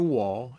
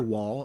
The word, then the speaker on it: Waw: And the letter Waw is spelled Waw, Waw. And the sound that follows the W sound would be the Ah sound.